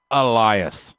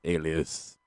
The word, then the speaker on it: Elias: I like how Rob can finally say it right. He called him Alias for a while. Alias.